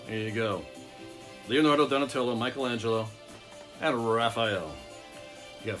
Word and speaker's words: Michelangelo: Leonardo, Donatello, Michelangelo is how you pronounce it, but Michelangelo, and Raphael. There you go. Leonardo, Donatello, Michelangelo, and Raphael.